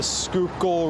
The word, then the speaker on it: Schuylkill: You can find the pronunciation of it uh in my in the sound of my voice as I'm saying it out loud.